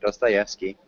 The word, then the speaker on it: Dostoevsky: English, this is how we pronounce it. Dostoevsky.